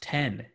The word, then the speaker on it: X: I mean, technically, the X is pronounced 10 because it's the Roman numeral. But people just saw the X, so they would just say X, even though it was technically called the iPhone 10.